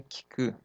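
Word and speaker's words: 聞く: E aí, nós temos aqui um kanji aqui, com mais um hiragana, e a pronúncia daqui é kiku, kiku.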